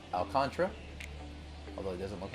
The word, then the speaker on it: Alcantara: I'm sure I'll say Alcantara at some point, but I looked online, it's Alcantara.